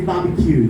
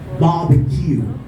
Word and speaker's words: barbecue: to three syllables stress if you say barbecue then you're doing mm-hmm you stress all of the syllables which is not supposedly pronounced as that was stressed one first with a primary stress and on the last syllable were the second districts barbecue okay and then we